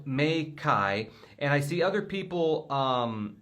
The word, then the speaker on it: Meike: they said, "Hi Aaron, the brand pronounces Meike."